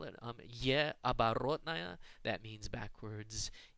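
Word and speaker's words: э оборотное: And in fact, the Russians call it ye оборотная. That means backwards E in Russian, and it's used almost exclusively in foreign words where Russian needs the sound like the sound in the word bet.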